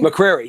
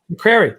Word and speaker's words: McCrary: I got Mark Largent and Mark McCrary. Am I pronouncing it correctly? McCrary, yeah. McCrary. Yep.